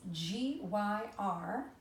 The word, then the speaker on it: gyrfalcon: So this gyrfalcon, it's G-Y-R, which we usually don't see as a prefix in words either, and it's pronounced gyr.